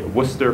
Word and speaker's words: Worcester: around Arab Muslim and sick issues with the Worcester police I spent a little time in Massachusetts